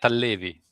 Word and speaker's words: Tallevi: Tallevi. Okay. That's gonna be tough. Is that T silent? No. T is loud.